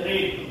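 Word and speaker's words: read: এবারে হচ্ছে ভার্ব হচ্ছে রিড, তার থার্ড ফর্ম বা পাস্ট পার্টিসিপল ফর্ম হচ্ছে রেড, বানানটা এক কিন্তু উচ্চারণটা রেড, এখান থেকে কিন্তু খেয়াল রাখবে তোমরা।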